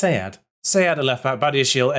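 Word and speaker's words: Sead: And his first name is actually pronounced Sayad.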